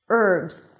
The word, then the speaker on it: herbs: Just memorize those words that don't begin with an H, although there is an H in the spelling, and you'll be fine.